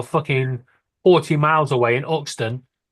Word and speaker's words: Euxton: It's not Buxton, it's Yuxton. No, try again. No, it's not. Try again. Why? How would you say it? It's Uxton.